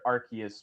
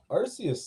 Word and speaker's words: Arceus: generally agreed upon, but I personally have heard Archus more often than not. Well, the Arus thing actually comes from uh Japan, I believe, where they can't quite pronounce a C sound right.